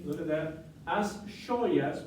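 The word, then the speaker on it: xoias: In Galician and Gallego, we would say, look at that, as joyas, because the X is pronounced sh, just like the SH in English, in she, he or she, right?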